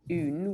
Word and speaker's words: Aon: our um single casts are called un which is spelled A O N. So I initially pronounce this AON, but you have to think of a Scottish person saying un in French, but with a Scottish accent.